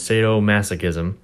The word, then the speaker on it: sadomasochism: form of this word the ik Rex pronunciation is sadomasochism and it's the psychological